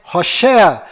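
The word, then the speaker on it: הוֹשֵׁעַ: Mas a pronúncia correta de Oséias é Hoshea.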